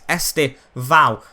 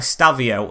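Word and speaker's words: Estevão: It's Estevao, not Estevao.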